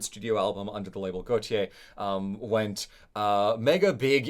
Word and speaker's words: Gotye: um pronounced like the French name uh Jean Paul Goautier the fashion designer Goautier not Goautier as I as I learn researching this uh